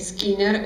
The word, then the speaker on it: Skinner: otros dos representantes que skinner giner por lo general se pronuncia esquina y acá vemos también